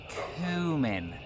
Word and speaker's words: cumin: It's cumin. C-U-M-I-N. Cumin. It is not pronounced C-O-M-I-N-G.